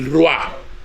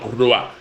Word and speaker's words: ruah: Bien, la idea que la cultura hebrea se hace del hombre se refleja en tres términos antropológicos claves: basar, nefes y ruah.